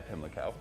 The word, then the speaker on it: Pimlico: Yeah, Pimlico.